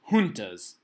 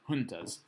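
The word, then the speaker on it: juntas: going to set up what are known as hunas it looks like junas but it's pronounced hunas hunas and these are organizations of military leaders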